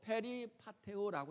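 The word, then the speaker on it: περιπατέω: 그런데 여기 주께 합당하게 행하여라고 하는 이 말은 헬라어로 페리파테오라고 읽습니다.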